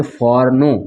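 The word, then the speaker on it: foreknow: उसी तरह यहां पे यहां पर एन ओ व के साइलेंट क्योंकि नौ का है ये नो वाला से लिया गया है 9 का ही मनाया गया ये तो इसको पढ़ेंगे फोर्नो क्या पढ़ेंगे फॉर नो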